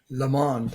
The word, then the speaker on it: Le Monde: Today, Monde, am I pronouncing that correct? Le Monde, yeah.